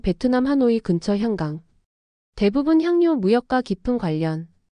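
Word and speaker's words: 香港: 해상 무역상들이 향나무 한구라고 불렀고 발음이 퍼짐 발음의 변화와 영문 표기 홍콩 광동어 발음 향강 영국 식민지 시절 영어 발음 편의로 홍콩 표기 표준 중국어로는 샹강이라고 읽음 발음 차이가 지역 정체성을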